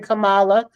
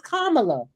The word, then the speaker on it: Kamala: woman how her name is supposed to be pronounced. And so, yet again, I was asking, ain't it Kamala Harris? It's never been Kamala. For years, y'all been calling her Kamala, and we keep telling you it's Kamala.